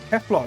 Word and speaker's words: Kefla: there's also this uh no i said it wrong it's not kale what am i doing kefla that's the one i